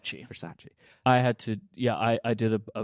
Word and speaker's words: Versace: Is it Farsace? I never say it right. Versace.